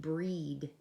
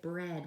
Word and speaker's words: bread: you're dealing with like if I see bread I know I'm not gonna read breed I'm gonna have to make it bread with a short e some things you just